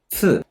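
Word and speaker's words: つ: 츠. 어떻게 해야 되냐 이거. 여기 이 사이에서 침 내뱉듯이 츠가 일본어의 정확한 츠 발음이거든요.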